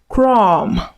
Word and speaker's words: crumb: So when words end with M and B, focus on the M, ignore the B.